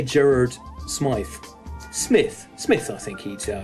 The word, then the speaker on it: Smythe: one name so i'm gonna say gerard smythe smith smith i think he'd uh he'd pronounce it um jarrod of course known online